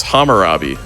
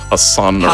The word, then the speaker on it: Hammurabi: also completely butcher the name, so I'll believe you on it. It is. Yeah, it is Hammurabi. But What did I yes, say? the Hassanabi.